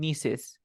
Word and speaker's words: niece: Nephews Mm, and nieces. Nieces for okay, girl, nephew for boys. okay. Let me write it. Nephew, niece. And remember that we pronounce nice. This is nice niece, nephew.